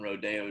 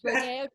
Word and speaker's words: Rodeo: If you've actually been on the gilded streets of what's known as Rodeo Drive. It's pronounced Rodeo, by the way.